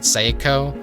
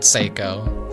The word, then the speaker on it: Saeko: So, something I'm very embarrassed about was when I played the demo, I pronounced it Seyo. My first instinct was like, "Oh, psycho." Saiako, like psycho. And I was like, "No, no, no, no. I'm probably like saying it wrong." And so I said Seiko.